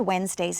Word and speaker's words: Wednesdays: he works on Wednesdays the word Wednesdays is actually a difficult word you notice the D is not really pronounced when and then that e isn't really pronounced either it